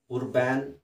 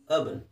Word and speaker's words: urban: ಮುಂದಿನ ಪದ URBAN ಏನಿದು ಉರ್ಬ್ಯಾನ್ ಅಂತ ಓದ್ಬೋದಲ್ವಾ, ಬಟ್ ಸರಿಯಾದ ಉಚ್ಚಾರಣೆ ಬಂದು ಅರ್ಬನ್.